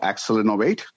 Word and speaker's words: Accelinnovate: It's called Accelinnovate.